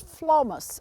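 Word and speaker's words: Phlomis: a group of plants called flomas and that's spelled p with a p-h-l-o-m-i-s it's an interesting plant with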